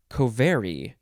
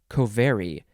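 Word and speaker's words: covary: variables okay next word i think you would pronounce it kovari you have to emphasize the ver kovari it is spelled co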